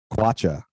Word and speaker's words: kwacha: this is your segment my word is uh kwacha which is the currency in zambia how do you spell that how do you spell that k-w-a-c-h that